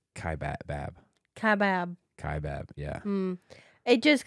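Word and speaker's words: Kaibab: online classes that um we also mispronounced one Checker said that we M mispronounced uh Kai Bob it's it's Kai bab kab kab yeah it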